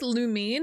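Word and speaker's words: Lumine: I'm pretty sure it's Lumin and Ether, right?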